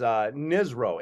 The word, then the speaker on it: NSRO: But my nickname was Nizro, NSRO, and it stood for Navy SEAL Rob O'Neill, because it rhymes. So people would call me Nizro.